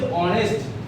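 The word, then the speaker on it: honest: আছে কিন্তু প্রোনাউন্সিয়েশনটা কিন্তু এইচ এ সাইলেন্ট উচ্চারণ হচ্ছে অনেস্ট দ্যাটস হোয়াই এন হলো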